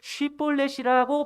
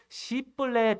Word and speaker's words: 쉽볼렛: 단어를 잘 발음하지 못하였습니다 에브라의 사람들이 특이하게도이 쉬폴렛을 쉽볼렛이라고 발음하지 못하고 시뻘레지라고 밖에 발음하지 못하였던 것입니다 마치 우리나라에서 쌀을 쌀이라고